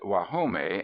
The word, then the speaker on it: Guajome: They pronounce it Guajome, and it means the place of the frogs, standing cool within the shadow of great cypresses.